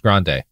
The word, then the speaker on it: Grande: Sophie, it's pronounced Grande. Oh, good to know.